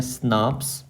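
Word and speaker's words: snRNP: प एस एन आर एनपी को हम क्या कहते हैं प्रोनाउंस करते हैं स्नाप एंड यह है बेसिकली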